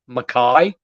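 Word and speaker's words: Makih: and I think it's it's m-a-k-i-h do you know how to pronounce that Makai Makai yeah uh and then Caleb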